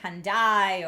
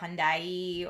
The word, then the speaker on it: Hyundai: But I know in other places it's like Hyundai or Hyundai or just depending where you are. It's kind of like the Ubisoft Ubisoft thing. Fokei says I've always said it Hyundai. That's the Hyundai America pronunciation.